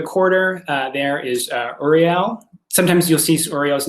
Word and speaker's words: Uriel: archangel of the quarter uh there is uh uriel sometimes you'll see oreo's name spelled a uh a-u-r-i-l but it's pronounced uriel and that's you know the archangel that you're